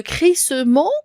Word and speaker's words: crissement: et là je vais je ne vais pas prononcer le E d'accord attends je peux dire le crissement ou bien on peut